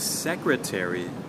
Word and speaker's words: secretary: So with secretary, the stress or the emphasis will happen on the first syllable.